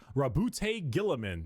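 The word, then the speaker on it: Roboute Guilliman: Primark Rabute Gillaman.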